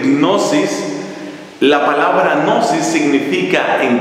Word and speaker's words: gnosis: movimiento se llama gnosticismo la palabra gnosis que se escribe con una G inicial como decir gnosis la palabra gnosis significa